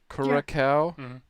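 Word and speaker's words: Curaçao: How do you pronounce that word right there? Yeah. Curacao.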